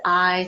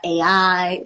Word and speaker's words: Ai: It's it's it's eyes, not AI like not like artificial intelligence, but yes, I didn't even think about that.